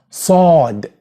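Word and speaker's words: ص: Then we have the letter sad. Sad. Which is pronounced s. S. And you will find here the difference in this letter because unlike the one before which is s s.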